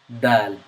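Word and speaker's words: دال: This is the letter daal. It is pronounced from the tongue. It is characterized by the tip of your tongue meeting the top of the front teeth, but not the roof of your mouth.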